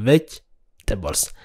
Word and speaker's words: vegetables: so erega soo dhaqsa vegetables vegetables maxan so erega soo only three syllables vegetables okay drain waa